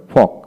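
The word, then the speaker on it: folk: M home home তারপরে ফক ফক এফ ও এল কে ফক ফক তারপর আসে উড উড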